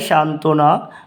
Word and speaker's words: সান্ত্বনা: হলে বনুচ্চারিত থাকে যেমন সান্ত্বনা এখানে বর উচ্চারিত অনুচ্চারিত হয়েছে যার মানে এটা উচ্চারণ হয়নি তাহলে সান্ত্বনা তেমনিভাবে দ্বন্দ আমরা লিখবো